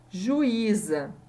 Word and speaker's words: juíza: Juíza. Eu não falo juíza. O U e o I não tem um som que eu pronuncio juntos, né? Eu pronuncio separado. Juíza.